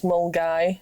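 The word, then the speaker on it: Milngavie: But there's one called Hoik, which I think you're thinking of, which is spelled Hawick. Yeah. Yeah, it's Hoik. Hoik. Or there's Mulgai, which is Mulgavy, but that's near Glasgow.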